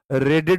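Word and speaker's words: read: अगर मैं V1 पढ़ रहा हूं तो मैं पढ़ूंगा वीड, अगर मैं V2 पढ़ रहा हूं तो मैं रेड पढ़ूंगा, इसे V3 पढ़ रहा हूं तो रेड पढ़ूंगा।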